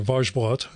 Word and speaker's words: Wajsbrot: My guest this time is Cecile Wajsbrot, or Wajsbrot, as I heard it pronounced in a French interview, Wajsbrot.